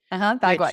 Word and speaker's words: Bagua: Bagua. Yep. Because Yeah. you said you would like to see the floor plan of the house, and so there's Haley, have you ever heard of this before? Mm-mm. Bagua.